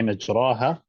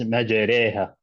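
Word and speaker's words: مجراها: So we said the word imala in Hafs is written as Bismillahi majraha, but it's pronounced as majreha.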